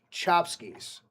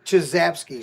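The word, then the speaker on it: Czapski: C Z A P S KI pronounced Chopskies. Not Chaz. Chazkis.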